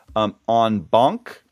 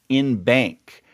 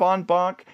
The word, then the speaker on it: en banc: And they both pronounce it in bank, which I thought was just dreadful and hadn't really heard much before.